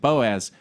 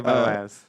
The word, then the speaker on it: Boaz: I'm gonna say Boaz. Rhymes with topaz.